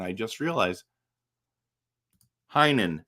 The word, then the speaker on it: Heinen: Heinen, that's how you say it.